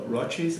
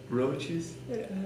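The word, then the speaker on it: Roces: It's roaches. Roaches? Yeah. Okay. Is roaches wrong? Roaches. You're European, man, so it's not wrong. Is roses? Roaches. Roaches? Roaches is like small little cockroaches. Okay, how do you say that? Roaches. Roaches. Roaches. Like raw cheese?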